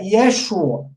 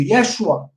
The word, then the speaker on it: Yeshua: Então, o nome do Salvador, no aramaico, a pronúncia mais provável, mais exata, seria Yeshua. Não, o A nem sai direito. É um A, é um patá comprimido. Yeshua.